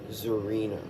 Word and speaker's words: Szarina: Okay, so section 1 is Shawl Zarina. And that is spelled Szarina.